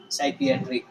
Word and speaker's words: psychiatry: साइकेट्री कैसे याद रखना है? पी साइलेंट है, साइकियाट्री।